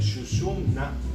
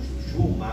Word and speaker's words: Sushumna: El Sushumna o Sushuma o Shushuna, porque tienen distintas pronunciaciones, nadi va por todo el centro del cuerpo.